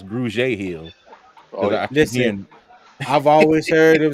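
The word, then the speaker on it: Grugier-Hill: this man's name wrong I've been saying Google Hill but I guess it's Grudge Hill I've always heard him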